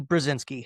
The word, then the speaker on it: Brezinsky: A huge welcome to the show, Vinnie Brzinski.